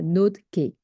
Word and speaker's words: NodeK: Voilà, ça se prononce comme ça, NoteKey.